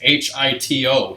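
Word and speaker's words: 人: See, like in the book I'm pointing to, it says H-I-T-O, hito.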